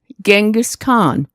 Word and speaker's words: Genghis Khan: G, Genghis Khan.